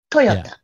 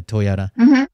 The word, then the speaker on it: Toyota: in Japanese okay and Toyota is the same way we say the same Toyota yeah you guys put a lot of emphasis on the T but yeah Toyota um I don't guess